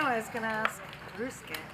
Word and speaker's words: Ryusuke: I know I was going to ask Ryusuke how he best to pronounce your name.